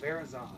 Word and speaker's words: Virizion: Ooh, Verazon, yeah.